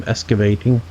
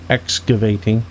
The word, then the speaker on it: excavating: get started doing some Escavating Excavating excuse me let me say it properly before the grammar police